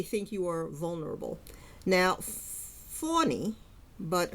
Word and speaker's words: Fani: Now, Fani, but her name is spelled F-A-N-I, Fanny.